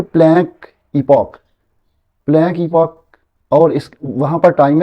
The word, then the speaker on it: epoch: ये लफ्ज़ हम ईपॉक आजकल कहते हैं, EPOCH। पुराने दौर में हम एपिक ही पढ़ते थे, लेकिन ये आपको पता है कि स्पेल अलहदा है इसमें। वहाँ पर प्रोनाउंसिएशन जो है उनकी ब्रिटेन और है और यूनाइटेड स्टेट्स की और है, तो आजकल इसको हम ईपॉक कहते हैं।